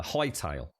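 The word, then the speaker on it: Hytale: that everyone's talking about it is high tail highle thank you uh but it's spelled h y right is it Hy t a l e is it is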